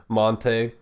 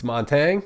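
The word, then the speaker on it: Montagne: Which is normally like I still hear people say like Monte, and I'm like, what? What? It's Montang The or mountain. Montagno. I'm like, no, Montang.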